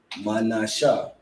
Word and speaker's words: Manasseh: You ain't gotta add the ha at the end because the shah, you see the connector. You understand? That's why he put the connector there, because you drop the a at the end of the ha. You understand? So you pronounce it manasha.